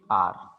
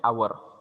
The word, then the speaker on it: are: Simply are. No need to say our. Many of the students say our. It is not our, but it is are.